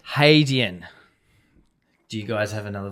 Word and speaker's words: Hadean: identifies to pronounce it haydeen yeah so hey not hat yeah it's not had hadeon a lot of us when we came up the name were saying had in and then so there's